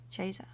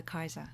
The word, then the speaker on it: Caesar: familiar with Kaiser and the restored classical pronunciation also goes in for Kaiser so which also sounds